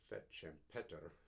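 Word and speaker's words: Fête Champêtre: the fet champet or fet champeta as it would have been pronounced in Burns's day in Scotland there a garden party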